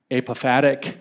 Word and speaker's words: apophatic: fancy name in fact apophatic I think is how you say it or apathetic theology it